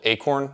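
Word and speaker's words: Aicorn: It's called Acorn. It's spelled with an I, so A-I-C-O-R-N.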